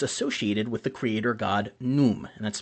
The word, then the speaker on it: Khnum: The implement was associated with the creator god Num, and that's spelled Khnum in English a lot of times, a ram-headed deity who was depicted as an artisan.